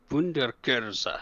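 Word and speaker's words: Wunderkerze: Wunderkurse. Good job. That's pretty accurate pronunciation on that one.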